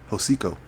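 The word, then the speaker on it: Hocico: Hosiko. Hosiko. How do you spell that?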